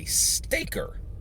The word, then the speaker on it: Stayker: It's John Scott Garibay word, and the word is Stayker. Stayker. I'll spell it. Stayker. Stay and Ker.